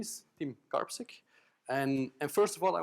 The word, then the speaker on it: Karpisek: That's the way you pronounce it, just Karpisek. You don't have to make really weird constructions about it.